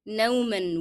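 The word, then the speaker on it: نومًا: Okay, نوما will be pronounced with the sound of N because I connected to the following word.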